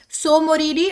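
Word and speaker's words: Tso Moriri: देखिए इसमें जो है स्पेलिंग जो है टी से शुरू हो रही है, लेकिन हम लोग इसको प्रोनाउंस करते हैं तो सो मोरिरी बोलते हैं, राइट। सोकर वेटलैंड कॉम्प्लेक्स, ठीक है। तो यहाँ पर याद रखिएगा कि टी जो है यहीं से ही याद हो जाना चाहिए आपको, ये लद्दाखी है और लद्दाखी में ऐसे ही बोला जाता है, स्पेलिंग आपका प्रोनाउंस करने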